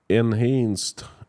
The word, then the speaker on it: enhance: Enhanced is pronounced just like dense.